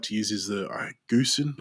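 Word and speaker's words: Gosen: to use is the Goosen, I believe it's pronounced Goosen. Yeah, I pronounce it Gozen, but I hear a lot of people Uh, say I Goosen say as well.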